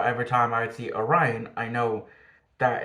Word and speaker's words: Orion: um and throughout the entire episode they were pronouncing Orion as oron um so that confused me that tripped me